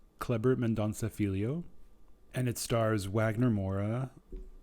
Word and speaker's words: Kleber Mendonça Filho: It is directed by, let me just make sure that I pronounce this correctly, Kleber Mendonça Filho. Kleber Mendonça Filho.